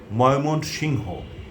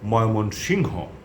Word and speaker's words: ময়মনসিংহ: ময়মনসিং বলেন ময়মনসিংটা সাধারণত যারা ইংরেজি খবর পড়েন তারা ওই বানানটাকে ফলো করে এটা উচ্চারণ করেন আমরা বলবো ময়মনসিংহ লালমনিরহাট ভোলা এই হলো